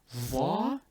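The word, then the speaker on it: ظ: Dha is a heavy dhal, and it helps if you pronounce it similarly to Sod, but instead of using your tongue by itself, attach or connect the tongue with the teeth as well, while forming the narrow hollow cavity with your cheeks and your lips.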